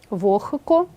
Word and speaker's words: вогко: глухий х тобто слова транскрибується Таким чином лехко вохко кіхті і вимовляються так само ніхті дьохтю ці винятки треба